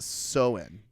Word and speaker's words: Samhain: celtic festival of samhain s-a-m-h-a-i-n uh it's actually pronounced so in which i knew because i'm smart but the